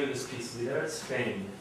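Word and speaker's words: Lidércfény: So you pronounce the name of this piece, Lidera Spain. Think G-N-E at the end in French. It's a palatal Y in Hungarian.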